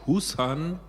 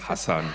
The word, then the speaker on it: Hassan: Ihr Name wird immer mal angegeben als Hussan. Hussan, ich dachte immer, wie spricht man das wohl aus, aber Najat Hassan, Hassan, genau, ist der korrekte Name.